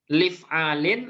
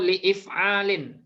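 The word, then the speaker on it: لإفعال: Bacanya apa ini, Pak? Lif'alin atau li'if'alin? Li'if'alin. Li'if'alin. Hamzahnya tetap dibaca.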